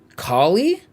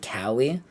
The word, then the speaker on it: Kaine: have a friend uh her name is callie and it's spelled the exact same way but she pronounces it callie so that's why i was pronouncing it that way but i'll go with kali if that's the canonical pronunciation kinda cannot remember a